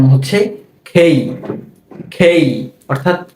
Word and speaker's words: K: এরপর এই বর্ণটাকে আমরা সবসময় বলি কে। এটাকে কি বলি? কে। তবে এই বর্ণটির সঠিক উচ্চারণ হচ্ছে খেই।